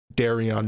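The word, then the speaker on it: Daario: Aegon the Dragons Bane says it's darion not Dara yeah you're right so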